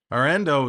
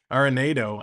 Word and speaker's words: Arenado: Arendo is coming up. Arenado. I always pronounce his name wrong.